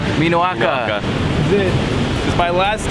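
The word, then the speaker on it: minoʻaka: Minoaka. Minoaka.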